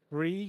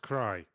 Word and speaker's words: Cree: Cree gives $2 and says, $2 clarification. It's pronounced Cry.